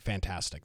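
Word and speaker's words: Fntastic: team is uh fantastic FN T FN T ttic fantastic that's that's that's the pronunciation of it and this is what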